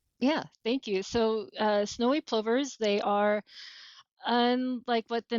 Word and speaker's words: plover: And did I pronounce that right? Plover? You plover? did? Yep, okay, plover.